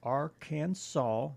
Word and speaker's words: Arkansas: It is illegal to pronounce Arkansas wrong. So no Arkansas. It must be pronounced Arkansas, not Arkansas. Okay, yeah.